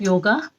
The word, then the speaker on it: योग: तो लेट us understand the depth of योगा और योग in real, that's the proper or the real pronunciation of it.